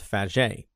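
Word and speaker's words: Fage: out on top was this thing called f now f is spelled f a g e all right uh and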